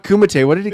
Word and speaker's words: Kumite: He called it not Kumite. What did he call it? Kamadi. Kamadi. Kamite or something? Kamite.